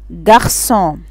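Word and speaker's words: garçon: عند وجود هذه العلامة يحتفظ السي بصوته الاصلي وينطق اس. ناخد اكزامبل، عندي ليسون، ليسون يعني درس. عندي جارسون، جارسون يعني ولد.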